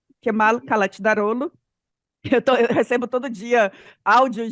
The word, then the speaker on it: Kılıçdaroğlu: I sem ponto é C cedilha é tchê, G com tio é uma letra muda, enfim.